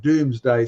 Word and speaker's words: Domesday: So it's the Domesday book, and we pronounce it Doomsday.